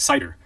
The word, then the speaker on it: CIDR: couple things first is cidr pronounced cider which stands for classless